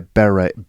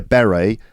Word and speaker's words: beret: uh French people wear Beret here's an interesting bit of uh pronunciation for you listeners I'd say a beret and you say a beret Beret so the emphasis is the emphasis is different right right um yeah